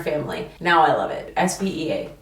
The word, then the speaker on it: Svea: S-V-E-A. 2 syllables. Svea. A lot of people think it's 3. Savea. No. Svea.